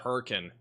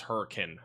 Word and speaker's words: Hurricane: But apparently it's not hurricane, it is hurricane, I think. A little bit different pronunciation.